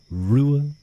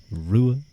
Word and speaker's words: Ruadh: Um, but my name is pronounced Rua. Rua.